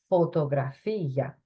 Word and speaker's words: fotografía: At the top, we have la fotografía. Accent on the end there, la fotografía.